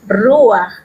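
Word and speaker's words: רוח: Vamos a continuar con las definiciones para la palabra viento, que también en hebreo la pronunciación es ruach, y nos dice que es un viento del oriente.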